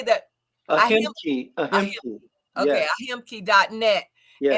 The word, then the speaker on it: Ahimki: Ahimki.